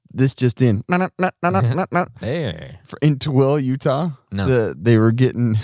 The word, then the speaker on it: Tooele: How do you spell that? How do you say Tooele? Tooele.